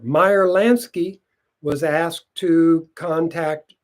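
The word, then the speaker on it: Meyer: supplies and equipment to cover Lan's Act activities mayor Lansky no it's pronounced Meer Meer Lansky was asked to contact Charles lucky luchano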